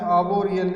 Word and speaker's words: arboreal: आर्बोरियल, इसमें आर्थ silence है, इसका प्रोनाउंसिएशन है आर्बोरियल, ARBOREAL, आर्बोरियल होती है वृक्ष संबंधित।